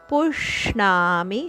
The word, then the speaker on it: ಪುಷ್ಣಾಮಿ: ಇದೆ ಪುಷ್ಣಾಮಿ ಚೌಷಧಿ ಸರ್ವ ಪುಷ್ಣಾಮಿ ಷಟ್ಕೋನದ ಶ ಇಲ್ಲಿ ಅದಕ್ಕೆ ಒತ್ತು ಪುಷ್ಣಾಮಿ ಚೌಷಧಿ ಸರ್ವಸ್ ಚೌಷಧಿಸ್ ಧಿಯ